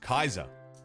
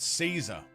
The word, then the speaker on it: Caesar: before that it's actually probably was pronounced Kaiser not Caesar I'm still going to say Caesar in the same way I'm still going to call it Barcelona but it was likely pronounced Kaiser Scotsman hello how you